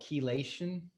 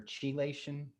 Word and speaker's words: chelation: And I undertook, I think it was called chelation or chelation, spelled with a CH.